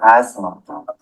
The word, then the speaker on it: asthma: T as in asthma.